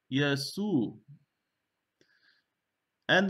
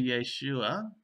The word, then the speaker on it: Yeshua: Yeshu. And there's no in Greek, so you can't write anything there. And that is not an A, it's not an A, right? It's not really Yeshua, it's Yeshua.